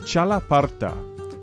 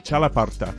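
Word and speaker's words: txalaparta: to pronounce for sure but it's called the chalaparta it's spelled now take a look at this t-x-a-l-a-p-a-r-t-a chalaparta it's a sort of xylophone and it has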